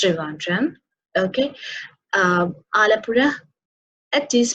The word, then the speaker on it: Trivandrum: some might say pill and RM no it's Trivandrum okay alle pure it is pronounced is alleppey okay then what what could